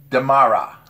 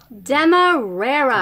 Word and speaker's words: Demerara: Giselle, let's see if I can pronounce this right this time. Demara. Demerara. Demerara. Demerara rum is produced in Guyana.